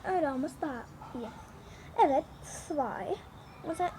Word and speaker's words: zwei: Zwei. Zwei. Bunu böyle çıkıyor. Sanki TS gibi. Zwei. Bakın böyle. Birazcık zor ama evet, öyle olması daha iyi. Evet. Zwei.